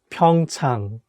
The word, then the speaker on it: Pyeongchang: and the wood color couldn't live happily forever pyeongchang pyeongchang okay the first one is pyeongchang pyeong chang which means pyeongchang pyeongchang is the